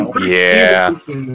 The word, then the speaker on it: evolution: Evolution is like, fuck you. Evolution? Evolution. Learn English. You know that a lot of British people pronounce it evolution, such as Richard Dawkins. Evil.